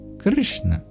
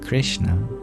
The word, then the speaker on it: Krishna: is technically no I in Krishna it goes from a k rolls directly into not just any n but a retroflex n too and then we roll into a cilant that's also retroflex and then we end it a so for a good